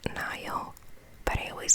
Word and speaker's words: Nile: I know it's pronounced Nile, but I always called it Neil.